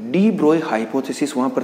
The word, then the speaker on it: de Broglie: ठीक है ना, ये एक्चुअल में जो वर्ड है वो डी ब्रोगली नहीं, हम जनरली इसका जो प्रोनाउंसिएशन करते हैं वो डी ब्रोगली करते हैं, जबकि ये वर्ड क्या है, डी ब्रोए, because French word है।